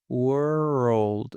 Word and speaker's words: world: Think of the word WERE, which is were, and rolled, ROLLED. When you want to say these two words together, how do you say them? Okay. I would say world.